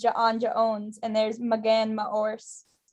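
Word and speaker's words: J'onn J'onzz: um uh secret identity jon jones not janja owns nope it's john jones there's jon jones as his human one but his martial one is janja owns and there's magen ma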